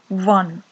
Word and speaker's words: one: Here we have some words start with the letter O, but here the starting sound of this letter is not O, we say one, W sound, which is a consonant sound.